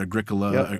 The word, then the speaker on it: Agricola: very first version of a gricola that came out which by the way that's debatable what how you say it Agricola it's not debatable there is a way debatable but it's Agricola is stupid is right